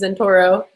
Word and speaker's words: Zentouro: everyone okay well as far as like username pronunciation it's in Toro but it doesn't mean anything so it's totally